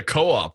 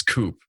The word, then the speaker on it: co-op: love that I just wish that the co-op one had a diares in it so it wouldn't be pronounced as Coupe but have two dots